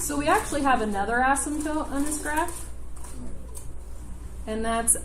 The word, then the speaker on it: asymptote: The definition of an asymptote, it's ASYMP. The P is silent. Asymptote, we don't really say the P.